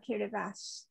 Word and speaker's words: Kiribati: gilbert and ellis islands it's now kiribati and which is apparently how the gilbertis pronounce gilbert's uh so um you know